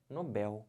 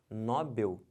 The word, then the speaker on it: Nobel: Eles não estão vendo porque se você falar Nobel você vai acabar fazendo isso aqui ó colocando acento porque porque paroxítonas terminadas em L leva um acento a gente vai ver isso em acentuação daqui a pouco próximas aulas mas perceberam se você fala errado você vai escrever errado você botar um acento onde não tem isso aqui está errado o certo não é Nobel o certo é Nobel aqui ó como é